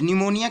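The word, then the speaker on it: pneumonia: थे correct spirit world निमोनिया का spelling बताना है तो देखिए साइलेंट वर्ड इसमें पीस है P N-you M ओ एन आई ए एस को निमोनिया पड़ेगा दूसरा आपका गलत है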